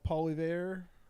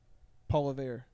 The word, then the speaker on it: Poilievre: Have you ever watched the clips of Trudeau and the leader of the opposition, Paul Poilievre? I think that's how you say his name, Poilievre.